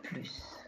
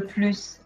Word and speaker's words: plus: moins tu gagnes le plus ils mangent le moins attention on prononce le s de plus c'est moi qui cuisine le plus à la maison avec